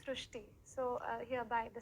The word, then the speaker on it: Shrishti: So in Marathi, the word re is pronounced as ru. So that is why the pronunciation goes Shrishti.